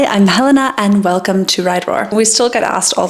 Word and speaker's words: RIDERAWR: like what is Right Roar how do I pronounce it what does it mean so I wanted to quickly create a little intro ride Roar is a women's Centric cycling Community we're based